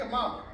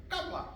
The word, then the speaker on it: Kamala: Her name ain't Kamala. See, they sistified. They sistified. Her name ain't Kamala. Her name is Kamala.